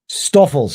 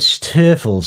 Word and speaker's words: Stoffels: Is it Stoffels? Is that how you pronounce it? Stoffels, yes. You said Stiffles earlier, right?